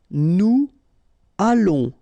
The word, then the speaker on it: nous allons: Nous allons, remember final S not pronounced. O and together it's on, and then we'll make this little link between the two, what we call the liaison, nous allons.